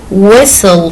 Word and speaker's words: whistle: so our story today whistle for willie in the title t is silent it means we write it but we don't say it please put a dot